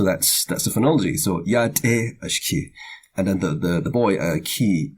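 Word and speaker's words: ashkii: And then the next word is pronounced low. See, there's no marks at all. It's pronounced completely low. Ashki.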